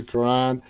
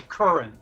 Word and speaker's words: Curran: to thank W Karan Madison am I pronouncing your last name correctly it's actually Curran current W Curran but